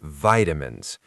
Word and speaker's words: vitamins: US, they say vitamins with a long I. I say vitamins. Lucy, you're more international. Both are correct, but it's good to know the difference so you don't get baffled.